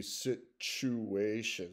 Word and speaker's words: situation: So, situacija needs to be situation. So, the TU in situation in this case is pronounced as CH, ch.